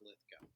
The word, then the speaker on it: Lithgow: It's actually pronounced Lithgow.